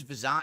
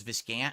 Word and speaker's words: Vizant: a beef with vizant his name is vizant everyone says viscant because no one remembers to pronounce it like vant that's why I say